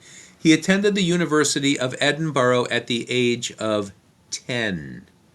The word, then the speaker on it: Edinburgh: He's born in 1711 in Edinburgh, Scotland. That's the way you pronounce what looks like Edinburgh.